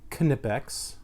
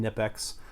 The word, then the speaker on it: Knipex: is how it's pronounced canoe pecks you actually really pronounce that K can affects most people just call them nip X but they are German